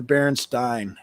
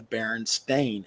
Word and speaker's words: Berenstain: to pronounce it but it is now and always has been the Berenstain sta i n never Stine st ein and their Sun has